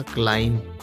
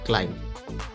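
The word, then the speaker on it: climb: क्लाइम। यहां पे B silent है। क्लाइम। यह पढ़ा जाएगा क्लाइम। बी लिखा है लेकिन यह साइलेंट पढ़ा जाता है।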